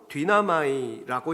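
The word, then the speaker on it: δύναμαι: 그리고 여기서 능히라고 번역된 헬라어는 디나마이라고 읽는데 영어로는 He is able to라고 되어 있어요.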